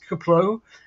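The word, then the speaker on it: KPLO: 2030s um that's a little more of an unpronounceable acronym it's kaplow kpl the career Pathfinder lunar orbiter uh UAE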